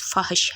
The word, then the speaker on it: فحش: 3۔ اسم جامد، مصدر اور مشتق۔ لفظ فحش کا درست تلفظ فحش ہے، فحش۔ یا اللہ میں یا